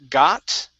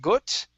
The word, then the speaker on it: got: let's go to um the word uh got right here instead of gut it's got gut good um here we